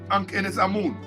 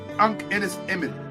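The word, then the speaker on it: Ankhesenamun: All of these great black women, or Hatshepsut, or Ankhenes Amun, Tutankhamun's wife, Tutankhamun's wife. Let's get the pronunciation right. Emin. Tutankhamun's wife. What? Right? Ankhenes Emin.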